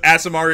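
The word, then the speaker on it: Aasimar: this Asmar fighter yeah as Asmar is correct he likes to say ASMR it helps me spell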